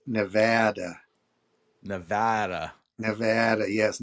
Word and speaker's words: Nevada: Yes, we are meloian, but it's pronounced Nevada. Nevada. Nevada. Yes. Not Nevada.